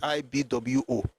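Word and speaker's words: Igbo: The pronunciation of the name is IB Wo.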